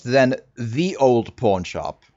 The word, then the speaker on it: Ye: it is still pronounced then the old pawnshop right because the y is not a y it's a th for thorn right you probably know